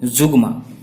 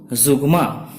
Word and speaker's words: zeugma: I am Dinanath Kumar and today we shall discuss a very important literary term Zugma. Spelling is Zeugma and the pronunciation is Zugma. Zugma.